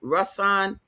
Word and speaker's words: Rasan: Rasan, did I say that right? Yeah. Rasan. Yep.